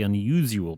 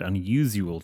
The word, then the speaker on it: unusual: There's not a liquid U in it.